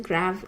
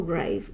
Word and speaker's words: grave: It's pronounced grav or grave. Grav in the UK, grave in the Americas.